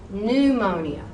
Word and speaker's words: pneumonia: Now, obviously, you would not have said pneumonia. You wouldn't have said that. You know better. So, pneumonia, pneumonia, pneumotoxin, pneumotoxin. But if you put that